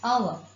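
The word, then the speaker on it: hour: The first word is pronounced as our. Oh. Because H is silent in this word, it begins with the sound O.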